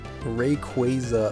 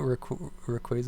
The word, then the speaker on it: Rayquaza: I mean, Rayquaza, I believe, is how you're supposed to say it, but it just doesn't sound right.